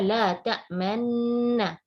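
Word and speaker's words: لا تأمنا: Jadi kita baca la ta'manuna ya, bacanya la ta'manna.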